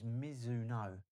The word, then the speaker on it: Mizuno: Miz I always say it wrong. It's Mizuno.